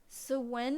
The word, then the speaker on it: Samhain: Sewen is how you pronounce Sewen. It's not intuitive to modern English at all.